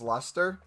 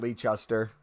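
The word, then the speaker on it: Leicester: want to buy him I can pronounce Lester because people told me it wasn't leecher that's how I pronounced it at first War just I can't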